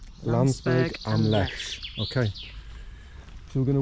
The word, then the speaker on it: Landsberg am Lech: Wendy's got the pronunciation. Landsberg am Lech. Landsberg am Lech.